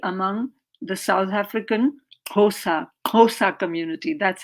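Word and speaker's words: Xhosa: africa also particularly among the south african khosa khosa community that's how you pronounce the word so with that i ask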